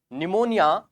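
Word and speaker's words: pneumonia: Clear है ना, याद रखिएगा पीपीएलओ, ये पी यहां पर साथियों साइलेंट है। निमोनिया जब अपन लिखते हैं तो उसमें पी साइलेंट होता है।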